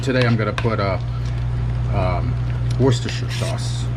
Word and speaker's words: Worcestershire: Sometimes I'll put soy sauce in here, but today I'm going to put Worcestershire sauce. Worcestershire. Actually, it's Worcestershire. Yeah, how do you all pronounce it?